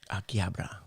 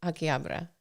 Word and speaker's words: Akihabara: Akihabara. Well, I looked it up because we always say Akihabara. Akihabara.